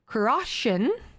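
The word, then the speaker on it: Cruachan: the morrigan's call the iris celtic metal band karoshin i am pronouncing that incorrectly it's c r u a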